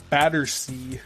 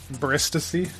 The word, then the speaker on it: Battersea: Battersea. Oh, is that how you say it? Battersea? Battersea. What'd I say? Bristacy.